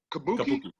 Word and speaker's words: Kabuki: Kabuki? There it is. Not Kabuki.